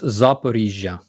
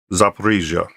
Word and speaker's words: Zaporizhzhia: How do I pronounce that? The other power plants, the largest power plant in Europe. It's Zaporizhzhia. Zaporizhzhia. Wow, I'm going to forget that one. I'm going to try that. Zaporizhzhia.